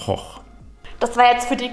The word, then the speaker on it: Gogh: Video mehr angucken I got you fun fact am Anfang Vincent van Gogh spricht man übrigens eigentlich anders aus weder go sondern es ist von hoch das war jetzt für